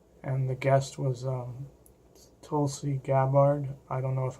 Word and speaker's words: Tulsi: around her name right I know Tulsi is pronounced like that because of the plant in India and people eat the leaves from but our last name is